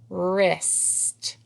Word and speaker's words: wrist: Wrist. And there is a silent W in the beginning of the word wrist.